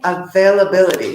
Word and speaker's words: availability: but making appointments, discussing availability. So I want you all to try to say this at home. Availability. So look how many syllables, okay? So it's a-ve-la-bil-li-ti. Everyone, that is 6 syllables, okay?